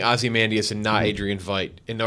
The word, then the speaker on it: Ozymandias: life you sit on the front I said awesome and Dyess Ozzy man set it right the second time yeah now I'm in my own head about it yeah we're gonna be saying Ozymandias a Nigerian fight you know we're not gonna